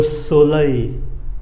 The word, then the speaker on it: soleil: Rồi chúng ta có cái âm A này, viết là ơ i l, đọc là A. Lơ soleil, không có âm ơ phía sau nhé, A.